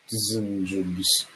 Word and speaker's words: DSGNJBS: It's spelled like Design Jobs, but it's like DSGNJBS. So it's Design Jobs.